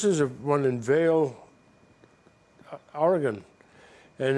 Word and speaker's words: Oregon: them and it told the story of the Oregon Trail there's another little quirk else New Englanders get chided for our English I've always called it Oregon but it's Oregon it's like it's GU and